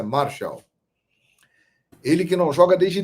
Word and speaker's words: Martial: Se escreve Martial, mas a pronúncia francesa é Martial.